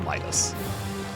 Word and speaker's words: Midas: No, I know it's pronounced Midas. I just like calling it Midas.